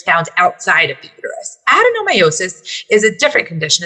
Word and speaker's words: adenomyosis: to know i want to move on to adenomyosis i said it right right yes yes so